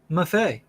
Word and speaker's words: Maffei: Maffei. Okay, good job. You passed. Like buffet, but he had to tell me.